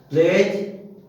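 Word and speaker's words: pledge: जैसे bridge, BRIDG, लेकिन बोला गया ब्रिज, डी साइलेंट, ब्रिज माने पुल। प्लेज, PLEDG है, लेकिन प्लेज बोला गया, प्लेज माने बंदर या रहन।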